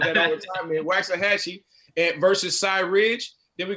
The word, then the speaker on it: Waxahachie: the life of me, I'm always going to pronounce it Waxahachie. Is that right, Blue? That's where I pronounce it. Okay, I'm going to call it that all the time, man. Waxahachie versus Cy Ridge.